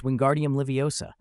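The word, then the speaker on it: Wingardium Leviosa: It's Wingardium Liviosa. Stretch the gar and drop the saw at the end.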